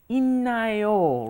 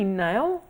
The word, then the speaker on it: 있나요: But then when you combine a D plus an N, it turns into 있나요, right?